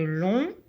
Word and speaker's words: long: Long, alors la lettre G ne se prononce pas.